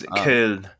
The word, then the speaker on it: Köln: Köln, if you want to say it in German. Cologne. It's Köln.